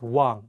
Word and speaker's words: 왕: In this case, you don't pronounce the iung at the beginning of the word. Only say the wa and pronounce the iung at the end of the word as ng.